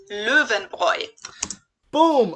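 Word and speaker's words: Löwenbräu: mentioned out of context the correct german pronunciation is leuven roy boom louvin boy i told you yes my german is still good let's go lufenboy is like making an o sound and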